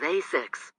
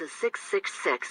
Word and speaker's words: ASICS: first a in a6 the last syllable of a6 s-i-c-s sounds like six put the three together